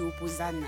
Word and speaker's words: Opposan: Alors je vous dis, la bonne prononciation c'est Opposan avec un Z même s'il y a un S à la place.